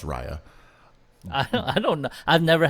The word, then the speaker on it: Raya: Well, it's pronounced Raya.